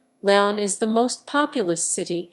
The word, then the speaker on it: León: leon guanajuato beyond spanish pronunciation laon is the most populous city and municipality in